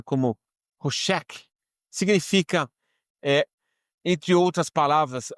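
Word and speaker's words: חֹשֶׁךְ: trevas essa palavra Trevas em hebraic signif eh pronunciada como hosek significa eh entre outras palavras essa mesma palavra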